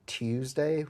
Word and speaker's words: Tuesday: it tuesday or tuesday i say tuesday with like emphasis on the tea so no it's not